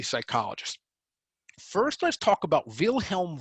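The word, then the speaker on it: Wilhelm: first let's talk about vilhelm V and it's important to pronounce him that way the v's are PR the W's are pronounced with a V he is known as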